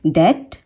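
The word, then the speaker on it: debt: कम words हैं, पर उन वर्ड्स में जिनमें बी के बाद में टी आता है और वो बी टी से एंड हो रहे हैं तो उसमें हम बी को प्रोनाउंस नहीं करेंगे, जैसे कि डेट, डेट, डाउट, डाउट, okay.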